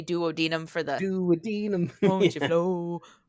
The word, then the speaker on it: duodenum: actually pronounced duodenum, but he had to say duodenum for the Duodenum.